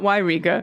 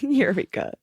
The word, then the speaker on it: Eureka: all reside near Eureka this is correct not y Riga not Yreka Eureka oh hello he presents